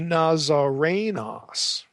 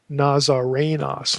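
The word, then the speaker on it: Ναζαρηνός: Now, Jesus is elsewhere called a Nazarenos. Notice there's no long O there. Nazarenos, Luke 4:34, Luke 24:19.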